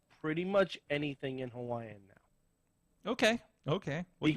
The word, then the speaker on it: Hawaii: it's not actually pronounced hawaii oh oh really yeah it's pronounced hawaii hawaii so the w is a body with a v only only if the w is in the middle of a word hmm if it's at